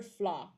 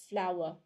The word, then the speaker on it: flour: There's a very the stressing is still in the first syllable, but it's never just one syllable though. It's never flaw. Okay, it's flour.